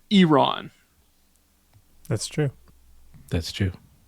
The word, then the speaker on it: Iran: We're not allowed to mispronounce it. It's Iran.